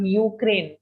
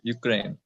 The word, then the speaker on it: Ukraine: casting the pronunciation of ukraine try to say you okay it's not an oh but a you okay ukraine ukraine i would support them